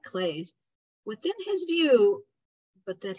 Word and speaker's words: Klee: I guess he's called Clay, not Klee, but I always mispronounce it.